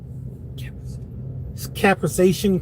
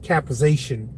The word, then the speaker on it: capsaicin: If you talk to your doctor, ask about the I believe it's pronounced capsaicin cream.